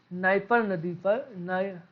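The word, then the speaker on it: Dnieper: Ukraine की राजधानी Kyiv है, जो कि नाइपर नदी के किनारे स्थित है। यहाँ पर डी साइलेंट है।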